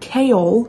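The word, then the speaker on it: Chaol: I was getting so pissed at Kale. His name is Kale, by the way, not Cole. I've been saying it wrong.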